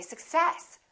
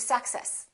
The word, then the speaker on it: success: difficult to understand so in this case we stress the second part and we say success i wish you success we don't say i wish you success another example the word